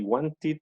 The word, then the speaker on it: wanted: Finalmente, si los sonidos terminan en ED, pero antes hay una T o una D, o sea, estas dos, se pronuncia ED. So we say wanted and needed.